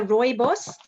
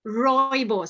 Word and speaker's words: rooibos: Rooibos. So you kind of roll the tongue, rooibos. So all red bush.